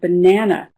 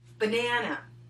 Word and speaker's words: banana: Now she's going to talk about the word banana, which is a great word because it's an example of how one letter can behave in two very different ways within the same word. Banana. Banana. Very slowly, that word is banana.